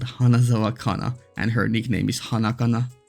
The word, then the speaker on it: hana: or flower in Japanese hana mean is in Finnish pronounced the exact same way hana and it's it's it